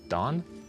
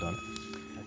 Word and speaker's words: Donne: is Don? I'll accept the pronunciation. It's John Dunn. John Dunn.